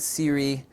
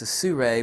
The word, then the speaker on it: SIRUI: is the carbon-fiber su Ray I actually always mispronounced the company Ryan called Siri and then the SU ray told me then I always say it like su and then ray say here we go sue ray ph 20 this is a gimbal head I